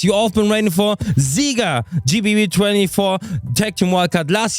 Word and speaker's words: ZieGer: We are ZieGer from Japan. ZieGer, not G.